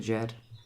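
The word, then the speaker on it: Djed: And raising the Jed means pulling the Jed up from that tilted angle back up to an upright position. Jed is spelled D-J-E-D.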